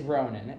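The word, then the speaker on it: Rohnan: name is drum roll please brother it's ronin yep my name is ronan it's spelled r-o-h-n-a-n so yeah we have aussie names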